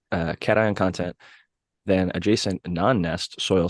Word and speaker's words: cation: But essentially, it said ant nests showed higher nutrient and cation or cation. Everybody pronounce it a little differently. I think it's cation though.